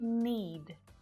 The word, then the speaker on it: knead: with, but there are several common English words that have a silent letter K. And notice that it always happens before an N.